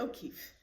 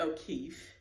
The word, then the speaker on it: O'Keeffe: focus on georgia o'keeffe and her last name is spelled o apostrophe k-e-e-f-f-e look at that three e's and two f's georgia o'keeffe but before we get